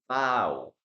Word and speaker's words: bow: pronunciations for this okay two pronunciations number one we have here bow bow bow like cow cow bow cow okay when we're talking